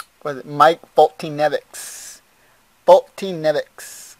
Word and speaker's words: Foltynewicz: Foltynewicz, guys. I know. It seems like I'm not saying it right, but that's how you say it.